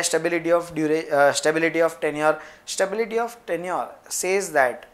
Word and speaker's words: tenure: कोई स्टूडेंट्स इसको टेन्यूरे प्रोनाउंस कर रहे हैं। इट इज नॉट टेन्यूरे, इट इज टेन्योर।